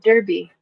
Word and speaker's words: Derby: They're from Derby, UK.